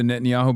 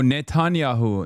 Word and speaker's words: Netanyahu: Hit him with the Netanyahu being the real, make pretend president realize he's just a city mayor.